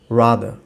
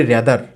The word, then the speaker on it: rather: Search করে দেখতে পারেন, দেখবেন যে ওরা বলে রাদা, রাদা, শেষের রটা কিন্তু শোনা যাচ্ছে না, ঠিক আছে?